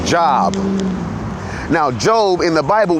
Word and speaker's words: Job: Now, I pronounced it Job because that's the Hebrew pronunciation of it. The American pronunciation of it is Job.